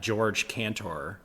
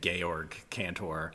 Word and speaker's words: Georg Cantor: this thought exercise that George Cantor, or I don't know how to say his name, Georg Cantor. Yeah, I think that's right.